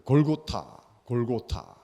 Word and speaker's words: 골고타: 그것을 아람어라고 이야기하는데 그 아람어도 참 이게 골고다를 그 골고타 이렇게 불렀습니다. 골고타.